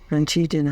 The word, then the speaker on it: Francigena: Yeah, Francigena.